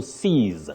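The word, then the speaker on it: seize: to exist C then to grab something you say to CES that is s e i z e so C versus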